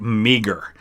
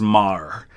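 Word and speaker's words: Meagher: it's it's spelled m-e-a-g-h-e-r which looks like meager uh but i think typically i've heard it pronounced as mar uh and you actually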